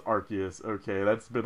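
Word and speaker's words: Arceus: and there's always that big debate over archus versus arus for the record it's archus okay that's been like the universal thing over to Pokemon world is that it's archus it's not arus so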